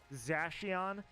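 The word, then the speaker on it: Zacian: Um Zachon, who I'm hearing people I'm hearing the official pronunciation is Zashion.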